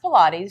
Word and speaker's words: Pilates: of people know we're learning exact and it's pronounced Pilates she's correct the Pilates education exercises format comes